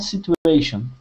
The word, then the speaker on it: situation: So the T and the U make a CH sound.